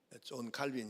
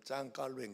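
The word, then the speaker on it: Jean Calvin: 장로교를 만든 분이 시조 존 칼빈 있데 영어로 말하면 존 칼빈이 이분은 주로 프랑스에서 이제 활동을 했어요 그 프랑스 발음으로는 짱 깔뱅 그러는데이 짱 뱅 아니면 존칼빈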